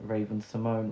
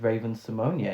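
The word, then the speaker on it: Raven-Symoné: of drag race where rupaul randomly told everyone that we'd been pronouncing raven simone wrong and it was raven simonia yeah um maybe that's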